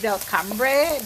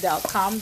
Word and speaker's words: Delcambre: so they pronounce it how do you spell it it's Delcambre but then you pronounce it they'll come that's how French people are we they are we